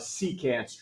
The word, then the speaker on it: secant: Secant. Good job. It's not French. It's not secant, like a croissant.